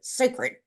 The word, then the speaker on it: SACRD: And he says, and we pronounce it sacred, sacred.